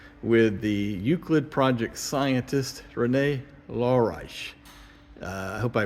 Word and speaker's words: Rene Laureijs: in the Netherlands with the Euclid project scientist Renee lorice I hope I pronounced your name correctly Renee that's correct and